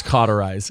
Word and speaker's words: cauterize: isn't it I'm I'm not going to it's cauterize it is I thought there was an R